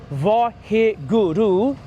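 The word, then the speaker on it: Waheguru: can use the Gurmantar, the words Vaheguru. Yeah, it's 4 syllables.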